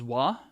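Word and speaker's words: は: yo D hold on you might have notice how the ha here sprouts as wha it's a particle pronounced special and this hair right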